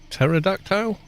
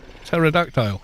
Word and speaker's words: pterodactyl: Pterodactile. Yeah, there you go. The P is silent.